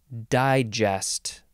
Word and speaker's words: digest: the next word is Digest digest emphasis on the first syllable first form noun from